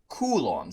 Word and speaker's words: coulomb: In science, we measure charge in something called kuloms. That's how you pronounce that.